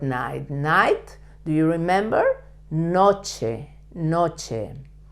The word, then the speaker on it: noche: night do you remember Noche Noche another word with the c and the H together uh like koche it's the word is almost the same it only changed the first letter the short night La